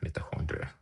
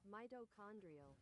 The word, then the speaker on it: mitochondria: Metahondri Metahondria. How do I pronounce it correctly? Mitochondrial.